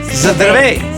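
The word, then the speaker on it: Здравей: Zdravej.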